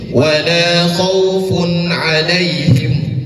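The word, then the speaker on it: ولا خوف عليهم: Bacanya kan seperti ini. Wala khaufun alaihim. Bukan wala khaun alaihim. Enggak seperti itu.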